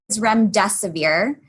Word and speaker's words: remdesivir: have heard this ad the drugs name is REM de severe it's an antiviral medication that was developed by